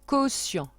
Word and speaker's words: quotient: Donc le son que s'écrit QU, le son se s'écrit TI. Le en c'est EN et à la fin il y a un T muet, quotient.